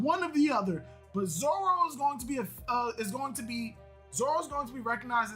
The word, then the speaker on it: Zoro: L's and R's just sound different when you pronounce it in Japanese, but it's still an L and a fucking R. When you Romanize it, it's Zoro. It's Zoro, not Zolo.